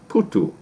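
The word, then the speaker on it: phuthu: they cooked up crumbly porridge called upudu or pronounced putu they also produced mahawu small beer by fermenting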